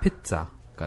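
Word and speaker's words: pizza: 그런데 근데 거기에 Z는 Z 발음이 아니고 T-S 발음이에요. 그래서 아. 피자가 돼요. 피자가 아니라 네. 피자가 돼요. 왜냐하면 그 Z는 영어 단어가 아니라 아, 어원이 영어가 아니라 아. 이탈리아어예요. 그래 이탈리아어에서 ZZ가 되는 경우에는 TS로 발음하는 경우가 있습니다.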